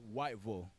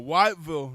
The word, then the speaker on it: Whiteville: corrected a whole bunch of times okay it's pronounced Whiteville weville Whiteville there we go Whiteville North Carolina you're tripping desan you see when